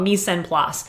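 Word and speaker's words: mise en place: called me send class I don't speak French but that's that that's the English pronunciation of that's called me send plus I think it's Mis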